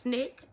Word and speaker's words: SNCC: civil rights organization um this new group pronounced Snick uh the student non